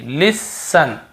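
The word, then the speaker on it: listen: हम यहां पर टी को नहीं पढ़ देखिए लिसन लिसन लिसन यहां पर भी टी नहीं पढ़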